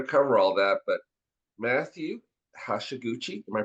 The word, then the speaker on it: Hashiguchi: So, we're going to cover all that, but Matthew Hashaguchi, am I pronouncing that right, Matthew?